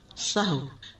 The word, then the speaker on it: سہو: سہو ہوتا ہے، سہو نہیں ہوتا. سب لوگ اپنا تلفظ بھی درست کر لیں. سہو جیسے لغو، ٹھیک ہے، کرب، نفس، سہو.